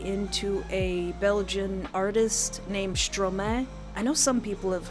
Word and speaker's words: Stromae: Stromae. Stromae. It's like maestro, but backwards.